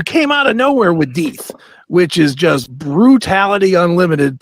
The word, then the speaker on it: Dieth: So actually, the name as we pronounce it is Dieth. Oh, it's Dieth? Okay. Yeah. It's like Dieth, like you know, think like Hamlet, Shakespeare, right?